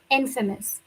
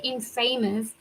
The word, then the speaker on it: infamous: Please make sure you say you don't say infamous. No, the stress is on first syllable because it's in infamous.